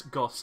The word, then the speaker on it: Goss: The fact is, Goss rhymes with boss.